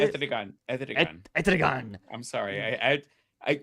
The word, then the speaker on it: Etrigan: Etrigan. I'm sorry. I when you read it, it sounds Spanish, but Etrigan.